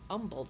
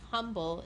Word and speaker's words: Humble: usually live outside of Umble Texas don't pronounce the h it's not it's not humble and neither are we